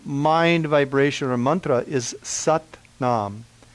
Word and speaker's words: Sat Nam: In Kundalini Yoga, the main mind vibration or mantra is Sat Nam. S-A-T, pronounced a little bit like S-U-T, Nam, N-A-M, Sat Nam.